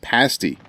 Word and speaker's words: pasty: I think it's pronounced pasty. Nasty. Well, it says rhymes with nasty.